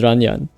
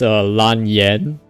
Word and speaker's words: Lan Yan: She also says like Lan with a bit of an R sound, like in Japanese. So it's Ranyan. But in the Chinese, it's actually, if you like ignore the tones, ignore the tones for a bit. It's Lan Yan. That's how it's called, similar to how Yanfei is pronounced.